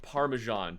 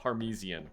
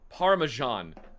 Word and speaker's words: Parmesan: It's it No, it's pronounced parmesan. Treasure panda, not parmesian. No, parmesan.